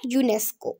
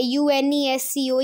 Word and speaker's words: UNESCO: Pronounce कर रही थी, इसकी जो प्रोनाउंसिएशन है वो है यूनेस्को, ओके। तो आप इसे ऐसे नहीं बोलना है UNESCO, ये ठीक नहीं है, आप बोलोगे यूनेस्को, ओके।